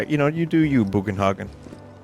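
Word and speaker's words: Bugenhagen: know you do you boogan hogin in my mind I pronounced the name as buggenhagen in the original cuz it's just a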